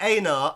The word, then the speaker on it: Einar: Einar, as I think it's more correctly pronounced, actually.